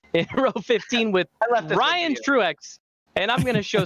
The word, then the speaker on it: Truex: row 15 with ryan truex and i'm going to show some respect to ryan truax and say his name properly chase angle david hensley in row 16.